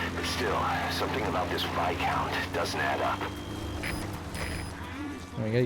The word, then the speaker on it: Viscount: It was the Viscount. It's pronounced Viscount, you idiot.